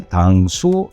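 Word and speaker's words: 당수: Sin embargo, las dos combinaciones respectivas de caracteres chinos se pronunciaban de forma diferente en coreano, que serían: “Tang-soo” y “Kong-soo”.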